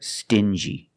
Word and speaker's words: stingy: differently example dingy and stingy these two words have the regular n Sound plus the J like juice together stin G together stingy or din G together dingy this wall is very dingy